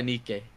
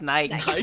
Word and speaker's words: Nikke: He's like, "Do you guys play Nikke? Does anybody Does anybody here play Nikki?" I don't personally, but I No, you pronounce it nik. I thought you pronounced It's Nik, not Nike.